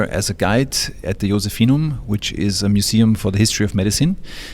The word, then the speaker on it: Josephinum: The Josephinum Museum. Something like that. We should find out what that is. Hello, I'm working here as a guide at the Josephinum, which is a museum for the history of